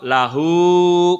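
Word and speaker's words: لَهُ: Jadi kalau hu ini kalau sebelumnya huruf hidup dibaca panjang. Kalau sebelumnya huruf mati dibacanya pendek. Contoh minhu. Nah, nunnya kan mati. Minhu itu pendek. Tapi kalau lahu panjang.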